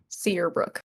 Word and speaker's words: Searbrook: How do you spell that? The name? Sear and then Brooke. Seabrook. Okay. Searbrook.